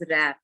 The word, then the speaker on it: wrap: रैप नहीं होता, इट इज रैप। W को प्रोनाउंस नहीं करना होता है, ठीक है।